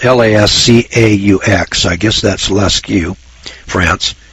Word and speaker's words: Lascaux: In Altamara, Spain, Lascaux, France, that's spelled L-A-S-C-A-U-X, I guess that's Lascaux, France.